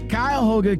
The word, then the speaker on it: Cuyahoga: Like, for example, man, I've been saying it wrong for the longest. It is Cuyahoga Community College Transportation Innovation Center.